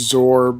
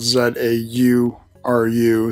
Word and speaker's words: Zauru: This is, well, North American wise it's pronounced Zaur, but spelled Z-A-U-R-U, so it could be Zauru.